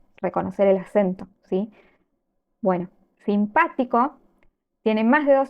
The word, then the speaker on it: simpático: nos lleva la H veamos la palabra simpático s pa ti co la última sílaba es co la anteúltima es ti la antepenúltima o lo que en italiano llamamos la terz última es pa simpático es decir en español la llamaríamos palabra esdrújula sí la diferencia Recuerden